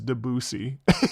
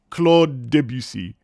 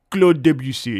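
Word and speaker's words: Claude Debussy: For the record, it's Claude Debutc. Clo debutc. And you got to close all your mouth and Clo debutc if you want to be French.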